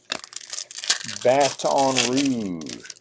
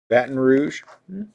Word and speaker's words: Baton Rouge: saying it right ish bathon rou bat un Rouge no that's not right that sounds terrible Baton Rouge now that's